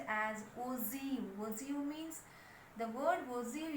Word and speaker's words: ogive: We can pronounce it as OZIU.